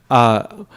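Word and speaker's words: मत्तः: So like, mattaha parataram nanyat, right? So M-A-T-T-A is the first word, A-H. Mattaha parataram nanyat. So it's a double T.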